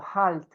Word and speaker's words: Halt: mala e tá dizendo Halt, wie heißen Sie? Ó, esse H no começo, gente, igualzinho do inglês, viu? Igual home do inglês.